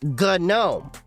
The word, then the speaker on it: GNOME: GNU, Object Manipulation Environment. From the GNU software. It's GNOME. Not GNOME, it's GNOME.